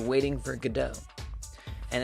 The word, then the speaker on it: Godot: uh so I already knew that this was pronounced gdau cuz I have seen this play and I've